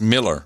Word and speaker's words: Muller: Christopher Muller in Cedar Park, Texas. In Texas, that would be pronounced Miller, believe it or not. Oh, Miller? That didn't surprise me. That's how people pronounce it, yeah.